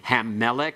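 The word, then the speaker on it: הַמֶּלֶךְ: All right, make certain you use the a sound. It's pathach there, okay? Hammelech, hakol, hayom.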